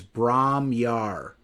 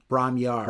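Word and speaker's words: Bron-Yr-Aur: called I believe it I believe the pronunciation is Brahmar. Brahmar I believe I believe is the pronunciation, but something like that.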